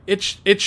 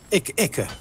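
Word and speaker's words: Ichor: Oh, itch or how do you say that again? Yeah, Icker.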